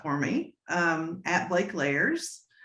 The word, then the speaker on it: Leyers: me um at blake layers rhymes with cake layers and and um that